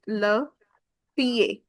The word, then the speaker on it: le pied: Then you have the foot, which is le pied. le pied Because there is no pronunciation for D.